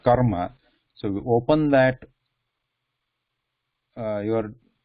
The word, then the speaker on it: karma: It should not be sounding like khara, khara, khara. It should be ka, kara, kara. Like karma. Like karma.